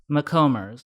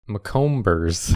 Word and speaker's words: Macomber: It's spelled Maybe. She owns it. DEBBIE space MACOMBER apostrophe S. McCombers. McComers.